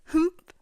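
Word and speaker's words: HUMPH!: Second song recommendation for this week is Humph. Yes, that is spelled HYMPH exclamation point by WJSN's subunit Chokum.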